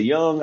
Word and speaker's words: Jung: pronounced so you know well i think people say hugh some people say jews people say young i don't know i see you right but i'm sure if you're listening please correct me my uh pronunciation of of uh carl young i just always went with jung because that's how it's spelled so i've never i